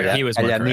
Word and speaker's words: Kalianira: The IA usually is pronounced like Kaya. Yeah. Oh, so he was more Kalyanira.